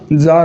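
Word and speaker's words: czar: तो ये जो जार और ये भी क्या है, दोनों की जो प्रोनाउंसिएशन है वो क्या होगा साथियों? जार होगा।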